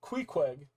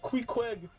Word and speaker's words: Queequeg: So, Queequeg is how I pronounce her name.